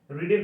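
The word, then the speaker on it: read: রিডের past form কি? রিড, রেড, রেড। বানানটা একই কিন্তু উচ্চারণটা একটু আলাদা, মনে রাখবে।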